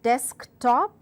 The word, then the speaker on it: desktop: verbs as well so in compound nouns the first word is stressed what suggest paid-up what such as desktop words such as laptop